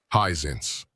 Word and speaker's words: Hisense: Highsense. Correct. Highsense is never I think pronounced like that.